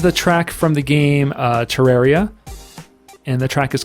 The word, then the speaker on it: Terraria: it pronounced terraria and tur aria but i think it's terraria because of terrarium that's honestly i've heard